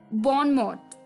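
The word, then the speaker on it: bon mot: बोलते हैं बॉनमॉट, और कई जगह पे इसमें टी की आवाज नहीं देते, तो वहां आ जाता है बॉनमो, बॉनमो। ठीक है, तो आप कुछ भी ले सकते हैं दोनों में से, बॉनमॉट या बॉनमो।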